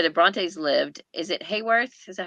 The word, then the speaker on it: Haworth: Is it Hayworth? Is that how you say it? Haworth.